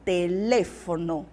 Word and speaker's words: teléfono: ele metro em português eu tenho telefone em espanhol de eu tenho teléfono teléfono português alergia e